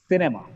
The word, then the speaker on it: cinema: Look at the word cinema. The letter C is followed by I here, I. So it gets the sound S, cinema.